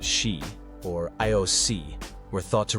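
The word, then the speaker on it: sídhe: Similarly, in Celtic mythology, nature spirits known as Shidi, pronounced she, or Ioc, were thought to reside in fairy mounds, caves, or across the sea.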